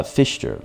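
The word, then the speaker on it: Pfister: is fine uh last name is pronounced uh fister like like terrible fish oh fish fish terror okay that does help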